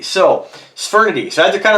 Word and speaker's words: Sphyrnidae: All right, so let me just go back, and I'm just going to play a pronunciation here. What is the meaning of the word Sphyrnidae? Sphyrnidae. So Sphyrnidae.